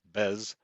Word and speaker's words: BES: electric system or BES typically pronounced bez is generally infrastructure at